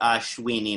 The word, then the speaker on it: Ashwini: So it's the first nakshatra is pronounced Ashwini Nakshatra.